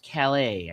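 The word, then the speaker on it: Callais: Supreme Court on Wednesday in the case of Louisiana versus Calais, I think is how you pronounce that, like the town in France, struck down a Louisiana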